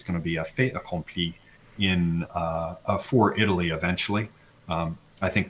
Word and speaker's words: fait accompli: I heard you pronounce fait accompli, so you're leaving the T off, right?